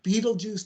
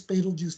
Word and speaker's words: Betelgeuse: Alpha, the orangish star, Betelgeuse, Betelgeuse, Betelgeuse, Betelgeuse, Betelgeuse. There are about 8 different ways to say this star. Any fans of the movie Beetlejuice? That's my favorite pronunciation.